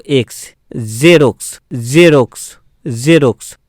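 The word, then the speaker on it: Xerox: যেমন এক্স ই আর ও এক্স, জেরক্স। তো এখানে জেরক্স বলবো না, জেরক্স, জেরক্স। তো জ, জ, জ উচ্চারণ হবে, জ।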